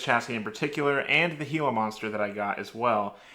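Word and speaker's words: Gila monster: regarding uh this chassis in particular and the heila monster that I got as well he also told me how to pronounce Hilo monster correctly because I was definitely going to say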